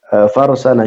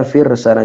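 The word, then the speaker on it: فرسن: Di sini disebutkan farsana syatin bikasril fa atau firsana syatin. Bacanya firsana syatin bikasril fa wassin. Al-muhmalah bainahuma ra sakinah wa huwa ma fawqa hafiraha.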